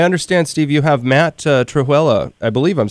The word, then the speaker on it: Trewhella: It's Trewhella. Trewhella, all right. Like Cruella de Vil, just Trewhella.